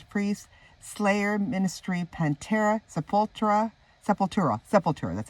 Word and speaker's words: Sepultura: Black Sabbath Judas Priest Slayer Ministry panta sepulta Sepultura seur that's how you say it Black Flag